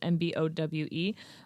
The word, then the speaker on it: Mbowe: Okay, so her name is Khadija Mabo. I'm so sorry. I don't know how to pronounce her last name. It's Mbowe.